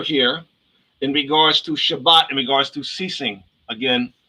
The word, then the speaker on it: Shabbat: That's why it's pronounced Shabbat.